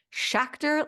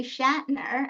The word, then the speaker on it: Schacter: how to say her name and she said shakor like tractor so I just have to repeat